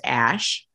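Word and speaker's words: Æ: she says Grim says it's the Elven spelling of AI which is like intelligence or Ai and it's pronounced Ash and then Archangel 12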